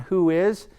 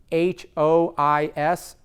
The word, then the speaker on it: WHOIS: to the bottom of the page, click on Who Is. That's spelled WHOIS, Who Is, and you can see who owns that domain name.